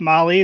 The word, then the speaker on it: Mahle: And for all the podcast listeners out there, Molly is spelled Mahle. Oh, yeah. So with Molly, their award this year is going to be for the toughest roadside repair.